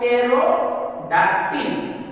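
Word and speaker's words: pterodactyl: टी वाई एल, तो इसका बाद टेरोडाक्टिल, यहाँ पी टी कॉम्बिनेशन बना रहा है और इस वर्ड के पहले पी है तो पी साइलेंट हो जाएगा।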